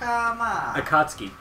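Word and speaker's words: Akatsuki: in a James P Sullivan and akatuki AK akatski that's how you pronounce it how do you know Japanese [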